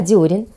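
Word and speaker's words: дёрен: И таким образом, именно из комментариев я узнала, что правильно произносить не дерен, а дерен, не очиток, а очиток.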